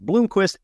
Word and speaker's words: Blomquist: For listeners in the audio only, Blomquist is spelled with just one O, despite being pronounced Blomquist.